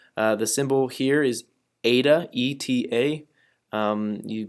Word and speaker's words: eta: The symbol here is eta, E-T-A. You pronounce it's kind of like theta, but eta.